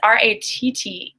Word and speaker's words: rattle: Rattle, so I believe it's R-A-T-T-L-E, rattle. So I think, yeah, Yojendra spelled it correctly. Rattle, that does have a D sound.